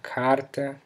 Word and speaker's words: carta: But if the R comes in the middle of a word, on the accented syllable, it sounds like an even stronger H. In the words porta, porta, or carta, which means door and letter that follow, you can use your